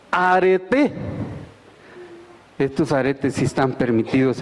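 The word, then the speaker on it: ἀρετή: Nomás que con acento agudo. Arete.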